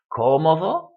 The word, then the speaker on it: cómodo: Cómodo, it's not stressed on the last syllable. It's not stressed on the next to the last syllable like it should be according to the rule, since it ends in an O, which is a vowel. It's stressed on the sílaba esdrújula. It's stressed, 3 syllables in.